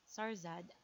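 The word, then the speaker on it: شهرزاد: In Persian, is pronounced as Sarzad, a Sassanid queen who must relate a series of stories to her malevolent husband, King Shahryar, to delay her execution.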